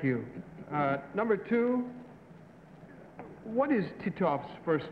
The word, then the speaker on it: Titov: Number two, what is Titov's first name? How do you pronounce his last name?